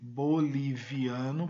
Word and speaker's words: boliviano: boliviana o país bolívia olha que interessante você escreve boliviano com ver mas a pronúncia no espanhol vamos relembrar o ver tem som de bebê então é boliviano boliviano bolívia e agora